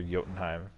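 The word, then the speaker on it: Jotunheim: in time because or yotenheim however you wanna pronounce it i think it's actually supposed to pronounce the with a short oh to be honest um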